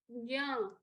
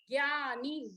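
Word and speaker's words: ज्ञ: When Bhanu Didi guides people in Guru Puja, she faces difficulty in guiding people to chant nya, because many of them chant nya as gyani, gya.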